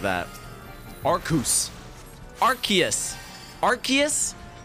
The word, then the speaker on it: Arceus: that arkoose arceus arceus i was thinking like ooze like like when you like pronounce zeus like z-e-u-s zeus it's not it's not zias right it's zeus but you know you know what i'm saying so arceus right but like with the